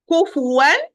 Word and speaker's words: كفوا: So, كفوا. كفوا. It's all my lips rounded with the space in between because it's كاف والضمة فا والضمة and واو. كفوا. كفوا. كفوا. Look to my mouth. كفوا.